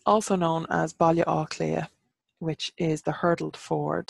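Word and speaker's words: Baile Átha Cliath: told growing up so it's also known as Bali or clear which is the hurdled fort so Bali is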